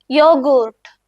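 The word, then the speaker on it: Joghurt: യോഗൂർട്ട്. യോഗൂർട്ട്. ഇവിടെ ശ്രദ്ധിച്ചോ, യാ സൗണ്ട് അല്ലേ വരുന്നത്? അതേപോലെയാണ് നിങ്ങൾ യോട്ട് വരുന്ന വാക്കുകളുടെ ഉച്ചാരണം യൂസ് ചെയ്യേണ്ടത്.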